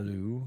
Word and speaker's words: Alemu: the pronunciation, Michael, of Elmu. Uh, uh, Elmu. Alu would be Yep. Alu. Yes. Yep. ALEW. ALEMU.